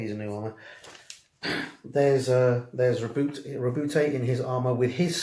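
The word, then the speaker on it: Roboute: It's telling you what happened when Rabute, and I've been advised that is how you pronounce his name, Rabute. For years it was Robert. GW on some of their recordings have pronounced it Rabute, and therefore it's Rabute now.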